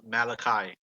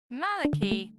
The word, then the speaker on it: Malachi: the children of Levi I think in English it's pronounced Malachi Malachi Malaki malakians I think yeah I heard like Molokai okay Malachi before and